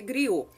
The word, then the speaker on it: griot: oral são os gritos escreve-se griotto mas a pronúncia griou atuavam no comércio praticado